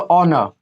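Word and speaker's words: honour: यहाँ पे इसको पढ़ो ऑनर, ठीक है। ये सब क्या होगा, साइलेंट हो जाएगा। हमने क्या बोला, ओ के पहले एच क्या होता है, साइलेंट होता है।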